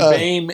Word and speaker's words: Boehm: And Boehm is spelled Boehm. Yep. Somehow OE makes A.